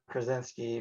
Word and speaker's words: Krasinski: movie of the book, it would be John Krasinski from did I say it right, from The Office? Yep. John Krasinski.